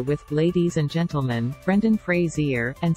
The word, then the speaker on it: Fraser: the Jungle corrected him it's Frazier like that thing you shave with Fraser replied say phrase